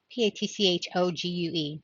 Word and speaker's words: Patchogue: oh Patrick oh p-a-t-c-h patch a Patchogue um p-a-t-c-h-o-g-u-e New York a remnant of black lacy clothing